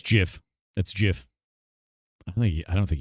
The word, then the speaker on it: GIF: It's pronounced GIF. It's Jif. Yeah, it's Jif.